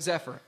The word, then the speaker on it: Xephyr: way be sure to check out Zephyr and it's spelled x e p h y r we is the most